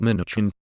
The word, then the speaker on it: Mnuchin: Here's everything you need to know about Mnuchin. Name. Stephen Terner Mnuchin. Pronounced Min-OOCH-in.